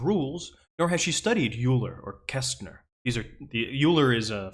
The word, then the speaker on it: Euler: You're right, it is pronounced Euler. How did I say it? It totally is pronounced Euler.